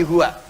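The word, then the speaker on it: هو: dari Hua begini karena kalau kita W dalam bacaan Hua W engak dibaca bacanya hu contoh Quran surah keed2 ayat 255 ayat kursi allahuaha wa allahuaha hu hu WAnya enggak bunyi karena dalam bahasa Arab termasuk di Alquran harakat terakhir enggak bunyi dia mati Bismillahirahmanirrahim harakat terakhirnya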